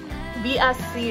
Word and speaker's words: VSCO: Girl, isn't it Visco Girl? It doesn't matter. They're awful either way. I thought it was Visco. VSCO. Guys, sound off in the comments. Yeah. How do you pronounce Visco it?